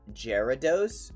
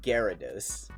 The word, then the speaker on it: Gyarados: be pronounced gyarados it's it starts with a g like i know like giraffe rig also starts with a g but it's gyarados uh let's see bird